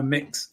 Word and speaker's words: Mx: do immediately when you've how do you pronounce MX it's one of the questions I constantly asked because I use the title MX very often now mix um and and of